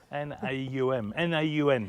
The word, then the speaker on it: Naum: It's Oh, I'm so glad you pronounced that. I couldn't work out how to say it. N-A-U-M, Naum.